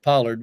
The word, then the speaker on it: Pollard: pronounce Pollard. It was like collard, so That's good.